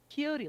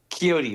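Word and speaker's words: Quixote: I just got a DM from Bronto saying you that's Kyote like Don Kyote Kyote. That's what it is.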